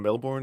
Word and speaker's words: Melbourne: Sending love from Melbourne, Australia.